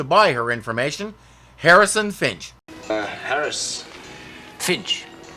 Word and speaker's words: Fynch: her information harrison fynch Finch thank you it's spelled fyn ch that smells fine sorry